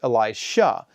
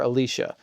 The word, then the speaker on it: Elisha: crosses the river Jordan his successor is Elisha sometimes described as Elisha right or Alicia to clearly distinguish him from Elisha but even that's a little problematic because Alicia sounds like a feminine name rather than the masculine name so I'm just going to say Elisha and I'll try to put the emphasis on the sh so that you're clear